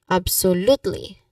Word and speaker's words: absolutely: The pronunciation wise um the tip here is that you stress on the third syllable. The third syllable is l absolutely absolutely. So you stress on that you say it like that.